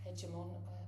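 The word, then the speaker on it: hegemon: So at the end so 1945 um we we had um we moved to America being being the hedge hedgeimon sorry is that the right way to pronounce it?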